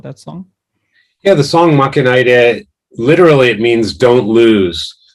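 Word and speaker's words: 負けないで: So on Jukebox 3, the first track, is it Makanaide? Is that how you pronounce it?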